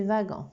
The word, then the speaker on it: wagon: Donc, ça s'écrit wagon, mais c'est wagon.